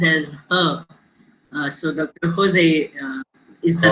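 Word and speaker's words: José: So it is in Spanish, it is J is pronounced as her. So Dr. Jose is the right word.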